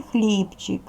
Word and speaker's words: хлібчик: можна бо один склад у слові хлібчик хлібчик наголошений перший склад наголос поставили над буквою